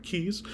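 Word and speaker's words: cayes: how you pronounce it c-a-y-e-s yeah it is pronounced I looked it up keys and um most of them are unhabitable um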